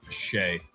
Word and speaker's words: Shai: Pretty sure it's pronounced Shay.